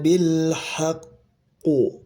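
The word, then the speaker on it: بالحق: Kama akhroakbuka min baitika bilhaqqu bilhaqqu. Nah, gitu ya. Di sini qalqalah akbar. Ya, jadi berhenti dulu ya seperti berhenti ya. Padahal tidak ya. Min baitika bilhaqu. Ha haq.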